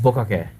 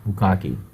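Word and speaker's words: bukkake: First off, I just want to say that it's pronounced bukake, not bukaki.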